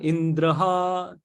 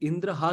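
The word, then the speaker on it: इन्द्रहा: तो मां इंद्राय स्वाहा, इस तरह से कुछ ये था, इंद्रहा, तो उल्टा हो गया, वो इंद्रहा की जगह बोलते इंद्राह या ऐसा कुछ हो गया।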